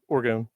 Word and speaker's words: orgone: so the uh extraterrestrial power stat is the orgon am I pronouncing that correctly I didn't actually look up the pronunciation yeah orgone orgone and this stat represents their life force